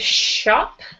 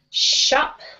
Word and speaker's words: shop: Let's do the word shop. Chop. Shop. Chop. Yeah, so more of a sound. Shop. Shop. Yes, good.